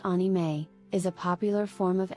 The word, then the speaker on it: anime: 1,500 resumes Japanese animation also known as anime pronounced onime is a popular form of animation in Japan